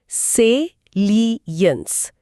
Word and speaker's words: salience: सेलियंस, उच्चारण ध्यान से सुनिए, सेलियंस। स्पेलिंग है SALIENCE। सेलियंस, इसका अंग्रेजी मतलब है the quality of being noticeable और इम्पोर्टेंट।